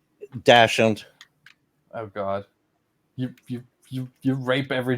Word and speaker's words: Dachshund: I mean, in German I pronounce it Dachshund. Dachshund.